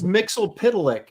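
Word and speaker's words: Mxyzptlk: I think that's probably the ultimate mega nerd test to see if you can pronounce that name correctly. Yeah. Well, it is. It's Mixel Pitlick, but it's spelling it is the tricky part.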